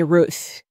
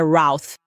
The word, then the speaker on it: Routh: Acho que ontem eu estava chamando ele de Ruth. Parece que a pronúncia correta é Routh.